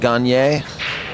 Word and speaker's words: Gagne: And it's Robert Gagne. That's how he pronounced it, correct? Robert Gagne.